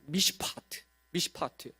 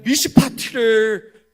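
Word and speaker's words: מִשְׁפָּט: 이 공의는 미시파트입니다. 미시파트. 근데 여기서 포악함은 굉장히 유사한 미시파흐입니다. 하나님은 미시파트를 바라셨는데 미시파흐가 맺혀집니다. 여기서 정의라는 단어는 째데카라고 말할 수 있는데, 째데카. 그런데 이 부르짖음은 째아카입니다. 째아카. 미시파트를 바라셨는데 미시파흐가 나오고, 째데카가 나오길 바랐는데 째아카가 나옵니다.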